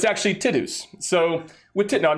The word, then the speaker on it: Tidus: i'm going to actually be the first to say his name uh correctly tidus tidus um so titus i'm sorry 20 years we've been saying right yeah i think